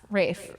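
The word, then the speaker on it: Ralph: like this it's it's well Raph it's ra Raph Rafe ra it's the British pronunciation it's CU I was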